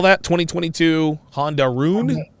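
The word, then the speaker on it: Rune: room which is one of the rarest bikes spell that 2022 honda roon roon r-u-n-e and that's a version of the valkyrie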